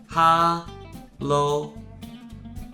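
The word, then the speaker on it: 哈喽: high in English and we even change the tone from its original first tone to the force tone to make it sound even more similar to hi when we say it hello ha low hello this is another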